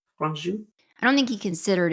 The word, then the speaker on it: Franju: Franju. Franju.